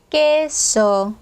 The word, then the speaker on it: queso: 얘는 절대로 꾸에 하시면 안 되고요. 깨끼입니다. 정확하게 그냥 깨요, 깨. 자, 그래도 이제 발음할 때마다 자꾸 이제 꼬에라고 발음하시는 분들 많은데 이제 주의해 주시고요. queso. 그냥 깨입니다.